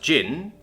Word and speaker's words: Jin: Primark children Khan temujin timujin Khan or Jin pronounced Jin for short the son of the jagatik Khan